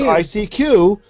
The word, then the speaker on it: ICQ: do you pronounce icq I pronounce it icq because that's also a Pun It's a pun people I what's the pun with I seeq it means I seek you or I see yeah